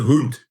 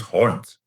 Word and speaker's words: hond: Just give me that pronunciation again. Hundkak. It's not hund, it's hond.